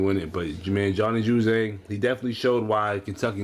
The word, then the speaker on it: Juzang: And pretty much Juzang, that's how you pronounce his name, right?